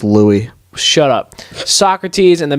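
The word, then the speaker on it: Louis: tell you all about Lewis the 14th SOC pronounced Lou shut up Socrates and the Magna Carta but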